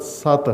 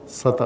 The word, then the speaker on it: سطح: اصل تلفظ اس کا لغت سط ہے، سط، جیسے فتح ہے، فتح کہتے ہیں ہم اردو لہجے میں، اپنے مقامی لہجے میں، اسی طرح صحیح تلفظ اس لفظ کا سط ہے.